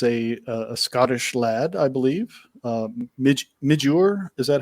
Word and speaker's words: Midjur: Midjur, is that how it's pronounced? Midjur, yeah, Midjur. Midjur. Yeah, he's Scottish, so it's Midge Ur.